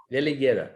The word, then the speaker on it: Veligera: joint venture, which is, if I'm saying it right again, it's Veligera Capital. Is that right? Veligera. Okay.